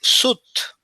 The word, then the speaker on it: suit: And the pronunciation here is suit, the suit, right? The suite is the one at the hotel, but this one is the suit.